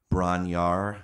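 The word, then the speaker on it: Bron-Yr-Aur: legendary it's the um braun yar i think is how most americans pronounce it but i believe it's something like brana ir uh don't quote me on that though and i've also heard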